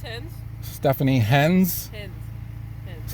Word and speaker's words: Himz: It's Himz. Stephanie Himz. Himz. How do you Hens, like hens.